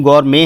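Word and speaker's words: gourmet: Pronunciation गौरमे है, T pronounce नहीं होता है।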